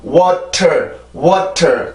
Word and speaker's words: water: 그래서 water 이래도 맞는 소리긴 하지만 그거보다는 water 이런 식으로 만들어주는 소리가 훨씬 더 자연스러운 영어가 되죠. 그죠?